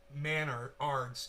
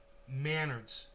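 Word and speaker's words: Menards: Pronounced Manards. It's the Canadian Home Depot. Manards. Like manners, but Manards, like manners with a D.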